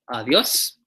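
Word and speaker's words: Adiós: With an accent on the O. Adios.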